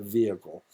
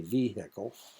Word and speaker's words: vehicle: a word for you vehicle that's the way it's actually pronounced a lot of people will say vehicle because it's got an H in it looks like vehicle but uh the H is silent uh so that's a